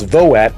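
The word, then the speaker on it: VOAT: the skinny on vote that's v-o-a-t that's not the November vote it's voet and it stands for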